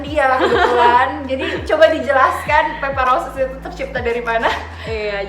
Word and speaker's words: Pepa Roses: Jadi jangan lupa di pronounce-nya Pepa Roses gitu Agak ya.